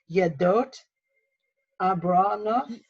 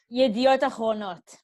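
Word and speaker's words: ידיעות אחרונות: And I would try to pronounce it, but I'm going to need corrected. It's Yedot Abronot. Yediot Achronot.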